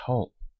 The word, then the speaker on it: Woods Hole: Woods Hole has been converted into Woods Hole, though still pronounced Hull, while Robinson and Quick still remain holes.